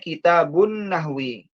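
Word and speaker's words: كتاب النحو: kitabu an-nahwi kitabu an-nahwi tapi kalau langsung disambung di washol ke huruf atau kata setelahnya jadi cara bacanya kitabun nahwi karena dunia bertasydid ada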